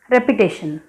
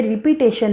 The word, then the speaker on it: repetition: ठीक है, okay, move to the next रेपिटेशन। याद रहे ये रिपीटेशन नहीं बच्चों, ये रेपिटेशन है।